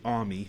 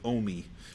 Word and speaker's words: AUMI: And so that was the start of what became the Adaptive Use Musical Instrument, or AUMI, which is pronounced variously. I say AUMI. I think Ellen says OMI, but whatever.